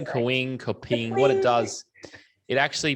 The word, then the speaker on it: Kapwing: And there's an app called Kapwing. Have I said that right, Ev? I think so. I used to say it wrong all the time, but that is Kapwing.